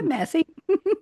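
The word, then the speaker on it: Massey: Jack Massie or Messi or however you pronounce it. Yeah, Massie.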